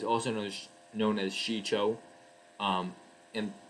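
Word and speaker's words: Shii-Cho: known as known as shicho um and there's various pronunciations of it um but you know shicho is how i learned it and then form two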